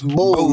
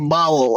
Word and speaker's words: bowl: You know, sorry man, it's bowl, man, not bowel.